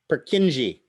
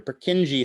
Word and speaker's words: Purkinje: do they call them no one wants to pronounce that name purkinje they're purkinji cells any idea why they're called purkinje cells